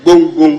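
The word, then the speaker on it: Gbonn: name of the river the river we're talking about is bom River not Bon river bomom is spelled as g b o n n g b o n boom boom that is the name of the river M speaker my question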